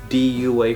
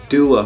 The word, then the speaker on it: Dua: of the day video I pronounced it wrong this is not Dua fragrances it's Dua fragrances so I'm going to